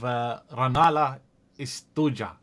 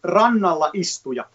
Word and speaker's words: Rannalla Istuja: First of all, you have to, when there's a J, you say y like Y in English. So it's istuja. And you always stress the first syllable.